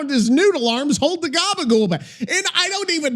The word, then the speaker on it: gabagool: So gabagool's essentially an Italian-American slang pronunciation of capicola or copper, which is a type of cured Italian pork cold cut.